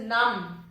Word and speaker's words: numb: Next is numb and not numb. It is numb.